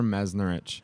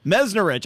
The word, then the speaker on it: Meznarich: you're not the first one uh it's meznarich meznarich I should have asked you that prior to the show and this isn't our first meeting I just didn't uh realize that anyway uh meznarich I said that perfect welcome to Market Fresh